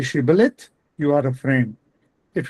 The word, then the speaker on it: shibboleth: Those who pronounced it s were enemies and therefore killed at once. So if you say shibboleth, you are a friend. If you say sibboleth, you are enemy.